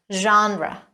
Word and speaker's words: genre: of roses number 12 again this one comes from French it is pronounced genre it's a category of